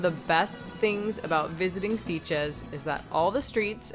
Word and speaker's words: Sitges: Sitges rhymes with beaches.